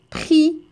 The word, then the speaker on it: prix: comme ça c'est-à-dire la lettre X ne se prononce pas et un autre exemple prix prix d'accord très bien les enfants bravo je